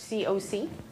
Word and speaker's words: CoC: It's pronounced C-O-C, not cock, just to clear up confusion.